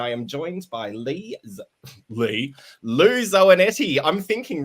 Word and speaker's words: Zoanetti: Welcome, Lou Zoanetti Rhymes with Spaghetti.